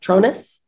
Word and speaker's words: Tronus: light with is is it uh pronounced uh tronus yes pronounced i wanna make sure i was saying